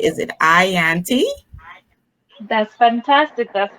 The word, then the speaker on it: Yanty: going to be making tonight and am i pronouncing your name correctly is it ianty that's fantastic that's how you say it i